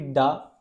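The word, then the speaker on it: だ: It won't be ta. It will be da da.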